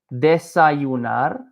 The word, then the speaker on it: desayunar: very closely, desayunar, with like a y sound for this Y. I'll say it again, desayunar. Or you can say desayunar. So this can be you or ju. You, ju. Desayunar, desayunar. Both are equally fine.